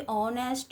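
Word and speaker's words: honest: जिसमें व्यंजन एच होता है। किंतु इ हमारा साइलेंट होता है। और स्वर की ध्वनि आरंभ से होता है। जैसे कि ऑनेस्ट आवर।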